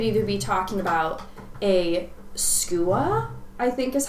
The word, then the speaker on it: skua: Like, when I say Seahawk, I could either be talking about a skua, I think is how you say it, or an osprey.